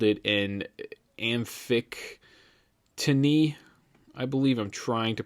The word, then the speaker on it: amphictyony: They had a council just like it, and they called it an amphictyony. I believe I'm trying to pronounce it right. It's amphictyony.